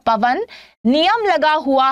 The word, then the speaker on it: पवन: बतानी है संधि पवन पवन उच्चारण करेंगे अगर आप लोग यहां पर तो पवन क्या हो जाएगा अव की ध्वनि निकल रही है अव कब बनता है